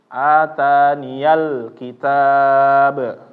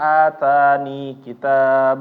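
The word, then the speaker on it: آتَانِيَ الْكِتَابَ: diharakatin fathah maka dia dibacanya ataniyal kitab ya Jangan sampai keliru membacanya atani kitab Oh iya berarti ya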